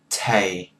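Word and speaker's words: thầy: go go go and male teacher is Tay Tay T a Tay and then lower your voice Tay Tay oh yeah sorry th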